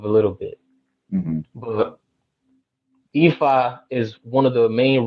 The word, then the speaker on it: Ifa: Ifa. Okay. I-F-A. The I is pronounced E, as in C in Spanish. You know, S-I. It's pronounced like that.